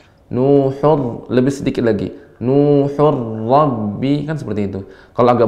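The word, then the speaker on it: نُوحٌ رَّبِّ: Wa qala Nuhur rabbi la Ra-nya tebal. ala Nuhur Rabbi. Ketika tanwin ketemu dengan ra, idgham bila gunna pada ra, ra-nya dibaca dengan tebal.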